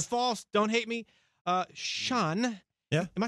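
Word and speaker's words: Shaan: they're if they're false don't hate me uh sean yeah am i saying your name right no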